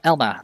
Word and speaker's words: Elma: a hit or too uh Elma that's how you pronounce it uh so Elma brought